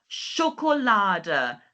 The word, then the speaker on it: Schokolade: Genau, so this time we have our A sound, O sound, and then sh. Okay, and this time we have Schokolade.